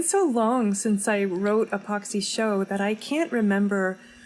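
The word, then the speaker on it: Pochsy: she is um uh epoxy um is spelled P O C H S Y. It's an anagram for psycho and it um is meant to rhyme with the pox.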